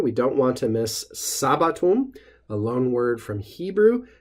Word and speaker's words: sabbatum: One thing to notice is just that the emphasis or the stress accent falls on the first syllable, sabbatum. Easy way to remember that is just to say Sabbath to yourself.